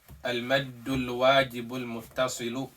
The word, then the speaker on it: المد الواجب المتصل: English meaning, but you don't know the Arabic pronunciation. Okay? So the first one that we learn is what? Al-maddul wajibul muttasilu.